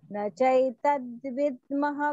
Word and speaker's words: न चैतद्विद्मः: न चैतद्विद्मः कतरन्नो गरीयः। द विसर्गम will be pronounced as half ह।